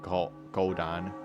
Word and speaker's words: Kohdan: I think you pronounce it like Kodan. Kodan. Yeah, Kodan makes sense. Kodan! I'm going with the Finnish pronunciations.